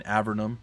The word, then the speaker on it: Avernum: yeah by the way i've been mispronouncing avernum for a long time including the start of this i don't know why i know how to pronounce it now and for whatever reason my poor warped melted little brain decided that no no we're not going to deal we're going to go sorcerer it's a vernum not avernum it doesn't